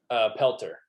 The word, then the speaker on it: Pelter: Pelter.